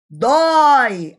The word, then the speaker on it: dói: Dói, aberto, e não como boi, né?